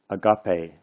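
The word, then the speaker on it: ἀγάπη: This one is a long E, so sometimes we write a little mark over top of it to indicate that it's a long E. So this word is pronounced agape.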